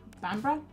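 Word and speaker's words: Bamburgh: Bamber. Bambber. Bambra. That's how you say it, isn't it?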